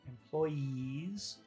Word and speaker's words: employees: vowel sound so uh let's take a look at number one employes is that a long sound or a short sound at the end employees that's very long very hard sound employees what about number two employers employers